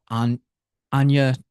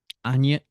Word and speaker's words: Ajna: um which is I think it's pronounced an ana chakra a j n a I'm trying to pull